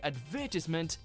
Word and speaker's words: advertisement: little jarring to hear advertisement if someone says it differently. Problems arise in the middle syllable, with some saying tis and others saying ties, as well as putting the stress in different places.